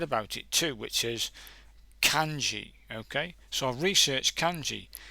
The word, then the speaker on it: kanji: I typed in kanji, and hopefully you can hear this. Let me just press it anyway. Kanji.